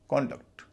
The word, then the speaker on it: conduct: CONDUCT, noun है कॉन्डक्ट। उसका कॉन्डक्ट कैसा है? कंडक्ट कैसा है नहीं, कॉन्डक्ट कैसा है।